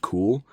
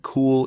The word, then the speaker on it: KUHL: I'm assuming it's just pronounced cool. But yeah, I think I think that's how it's pronounced.